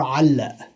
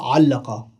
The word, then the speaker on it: علق: Is allag or alla. Alla. And in Fusha, allaqa.